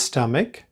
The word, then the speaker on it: stomach: You could say Richard became sick to his stomach.